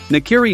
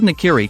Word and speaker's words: nakiri: knife becomes clear automatically the word nakiri can be broken down into two syllables not and carry in nakiri meaning na